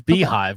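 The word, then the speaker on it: beehiiv: So here's Beehive, which is spelled not at all like how it's pronounced.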